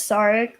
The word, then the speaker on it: Sarek: Oh, Sarek. That's correct pronunciation.